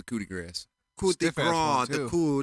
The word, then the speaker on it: coup de grâce: yup and then a coup de Grasse he said it wrong again coup de Grasse he lands the coup de grâce who's different who d